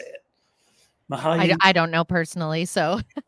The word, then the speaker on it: Mihaly: Mihaly I don't know personally.